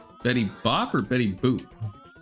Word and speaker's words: Betty Boop: There's no way you pronounce Betty Boop as Betty Bop, but there's also no way Bennetty Boop was made in like the 70s.